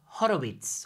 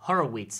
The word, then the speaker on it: Horowitz: Oh, now I have to talk about Horowitz, or Horowitz, as the Americans say.